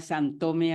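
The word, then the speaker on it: Sinthome: Então, o grupo, o Santome, e eu vou pronunciar Santome assim quando é com TH, es un seminario que Lacan ministra entre los años 75 y 76.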